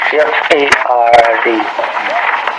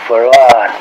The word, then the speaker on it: Fard: Farad, F-A-R-D. F-A-R-D. Muhammad. Mr. Fard, did you say? Well, that would be the pronunciation in English, but we in the Arabic is Farad.